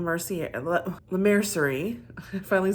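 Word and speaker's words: Laura Mercier: I am loving the concealer by L mer L mercerie I finally said it right you know it's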